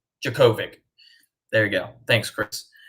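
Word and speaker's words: Jurkovec: now oh this is how you say it jerkovic jacovic there you go thanks chris uga wins by 17.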